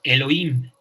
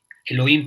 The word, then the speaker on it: Elohim: O también está AHIH, que se pronunciamos como Elohim. Elohim, que ustedes lo pueden ver también en el Antiguo Testamento.